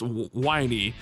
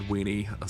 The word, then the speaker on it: Winey: And I'm glad you guys cast that last word because I would have definitely mispronounced Winey. I would have definitely said Weenie.